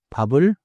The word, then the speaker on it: 밥을: The final consonant moves into the next sound.